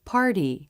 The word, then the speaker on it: party: Party. Then you can really feel the tongue flap, bouncing against the roof of the mouth.